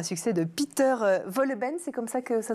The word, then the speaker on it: Wohlleben: et adaptée du livre à succès de Peter Wohlleben, c'est comme ça que ça se prononce.